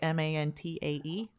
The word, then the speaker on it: Mantae: Gus, you are the interpreter for these guys, for the Mantaes. Can I put a Z-E at the end? Fuck. Damn it. I'm envisioning it Mantae like Mantae, like antennae.